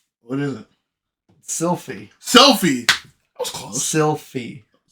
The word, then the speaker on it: Sylphie: What L do you think you're pronouncing? You're saying it. It's Sylphie. Fee.